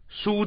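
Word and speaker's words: 俞: 这个字呢很容易念成鱼在肩背啊，疏在肩背。这个疏的它是和我们讲那个运输的疏是同义啊，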